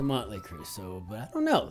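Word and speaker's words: Mötley Crüe: are absolutely useless because if you were actually to pronounce this the band this band's name with the actual umlout pronunciation the German pronunciation it would be mtle and I don't think that's what they go by I think it's a monly creu so but I don't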